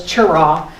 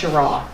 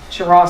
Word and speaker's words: Cheraw: e r a w we thought it was chirra but we found out when we got there that actually is pronounced chirra chirra South Carolina so um it was nice to